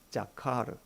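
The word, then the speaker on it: זכר: 자카르. 우리 히브리어 단어 하나 배우고 갈까 합니다. 한번 따라해 보실까요? 자카르. 자카르.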